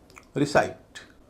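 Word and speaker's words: recite: रिसाइट पहला हल्का है। बाद का भारी है।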